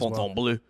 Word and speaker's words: Fontainebleau: I think you nailed that pronunciation as Fontainebleau.